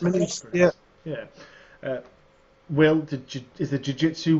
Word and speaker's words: Muniz: Is it Muniz it's pronounced? Muniz, yeah.